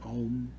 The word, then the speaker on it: Om: The ah in the back of the throat, the ow going through up through the upper into the palate and the opening. The was as it finishes and the lips close, and then the fourth syllable is the silence, which we come from and which we go into.